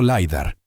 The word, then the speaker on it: lidar: Tenemos radares de penetración terrestre, escaneo, Lidar, pronunciado liidar, técnicas de imagen no invasivas y métodos de preservación digital que podrían permitirnos estudiar sitios antiguos sin causar ningún daño físico.